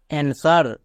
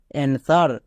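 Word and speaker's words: answer: এন এস ই আর অ্যানসার মানে এখানে ডব্লিউ এর উচ্চারণ হবেই না পরিষ্কার এ এন এস ই আর অ্যানসার এখানে ডব্লিউ এর উচ্চারণ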